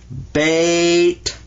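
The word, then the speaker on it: بيت: Is that bait?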